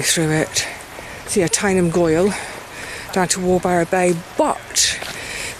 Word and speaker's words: gwyle: But going the route via the route called Tyneham Gwyle. Gwyle is a great word. It's spelt g w y l e. So, it looks like gwyl but it's not. It's gwyle.